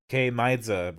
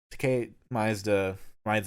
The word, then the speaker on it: Tkay Maidza: We have Tkay Maidza. I think I said it right now. Tkay Maidza.